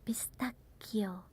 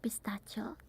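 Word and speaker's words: pistacchio: It's not pistachio. Here we call it pistachio. Again, double C. So you have to stay there a bit. And it a ch. So it's like a K. It's like pistakio.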